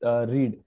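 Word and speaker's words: read: रीड का V2 रेड होता है, सिर्फ प्रोनाउंसिएशन चेंज होता है, बाकी स्पेलिंग चेंज रहेगा। रीड, रीड, रीड, रीडिंग, रीड्स, right, spelling same रहता है, सिर्फ बोलने में पहला V1 जो होता है उसको रीड बोलेंगे और V2 को रेड बोलेंगे।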